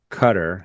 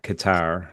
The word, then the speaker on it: Qatar: straight opens, but damaged Cutter, Qatar, depending on how you say it, trains will take longer.